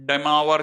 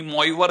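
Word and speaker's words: de Moivre: माँ ऐसे कुछ होता, माँ तो डेमावर थ्योरम है, इट इज, है ना, दी मोइवर थ्योरम नहीं है।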